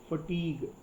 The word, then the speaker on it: fatigue: फटीग, इसका pronunciation important है क्योंकि दिस इज फटीग, FATIG, थका, भयानक थकान.